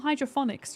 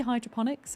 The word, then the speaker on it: hydroponics: Is it a hydroponics or hydrophonics chat? How do I pronounce it?